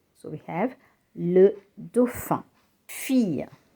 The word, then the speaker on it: fille: Fille, la fille, and not fille. So I-double-L-E is pronounced E.